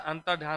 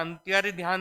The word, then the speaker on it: अंतर्धान: अंतर्धान क्या होता है अंतर्धान होता है एंट्री ध्यान नहीं होता अभी क्या होता है